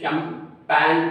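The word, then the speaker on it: champagne: जैसे for example CHAMEPA, इसमें G short है, NE, तो ये जो है शैम्पेन, इसमें जो है G की साइलेंस है तो इसलिए जो है ये टिक कर लेते हैं।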